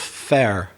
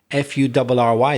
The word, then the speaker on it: fur: fairy dog it's interesting the way you pronounce fur oh yeah the belfast way yeah the belfast way so my pronunciation from the south of england is similar to words like turn or learn or burn or the past of to be were it's the er sound fur and how do you pronounce it fair yeah it's a it's a different